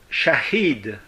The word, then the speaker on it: shahid: Shahid, ça s'écrit avec un S et un accent pas circonflexe, donc. Antécirconflexe, je vous remercie. A-H-I avec un trait, c'est un I long, D.